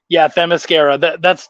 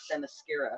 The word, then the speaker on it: Themyscira: So yeah, Themyscira.